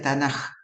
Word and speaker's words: Tanaj: Alianza ellos lo llaman tnk que se pronuncia tanaj por la t de